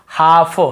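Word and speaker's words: half: जैसे काफ, काफ, काफ, हाफ, हाफ, काफ, हाफ, एल को यहाँ पे नहीं पढ़ना है। काल्फ, हाल्फ नहीं पढ़ना है, काफ बछड़े को बोलते हैं, हाफ यानी आधा। L silent.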